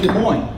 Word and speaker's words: Des Moines: And I work in Des Moines. Now Des Moines actually has 2 S's.